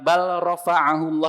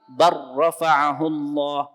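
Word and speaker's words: بل رفعه الله: Dibacanya bukan bal rafa'ahullah tapi bar rafa'ahullah, diidghamkan.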